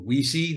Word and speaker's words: Wiese: this man's life um he uh called himself Michael weesee that's that's the pronunciation I heard from him but he answered Michael Weiss and uh was fine with that too but um that's really